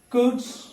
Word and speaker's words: could: And the last two lists where letter L is not pronounced is could, should and would.